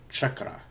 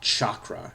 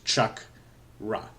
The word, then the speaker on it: chakra: And by the way, chakra is a complete mispronunciation of chakra. So, really, it's not chalk, it's not chakra, it's chuck. Like you're gonna chuck something, like throwing something, you're gonna chuck it. So, it's chakra.